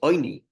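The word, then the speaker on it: עני: The pronunciation is oini, putting a dot on the top left of the ayin, a cholam, instead of putting a vav, which is a cholam, oini, right?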